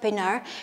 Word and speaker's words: Pienaar: that is Francois Pienaar you might pronounce it in some other ways but I wanted to pronounce it that way that is Francois Pienaar he decided to speak